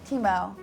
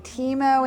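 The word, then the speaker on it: timo: Thyme how do you say thyme in Italian chemo so we're putting Teemo in and we're making a paste essentially to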